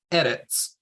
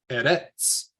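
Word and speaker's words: ארץ: say it both ways so the first way um that's correct is edits so we're putting the stress edits at the front versus the wrong way to say it is Eres that edits at the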